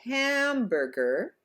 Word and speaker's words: hamburger: Now in the word like hamburger, the first syllable is stressed, ham, therefore we stretch out that vowel.